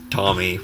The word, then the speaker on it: Tomy: I just found out the real pronunciation of Tomy, which I used to call it, but it's Tomy.